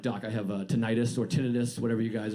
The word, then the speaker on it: tinnitus: I have an ear issue called tinnitus or tinnitus.